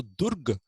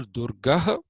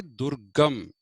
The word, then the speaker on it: Durga: So Durg is not a word at all. So say either Durga or say Durgam, both of which are acceptable in Sanskrit.